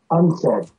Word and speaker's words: UNCED: It is pronounced UNCED, and perhaps indicating the secret agenda of this meeting.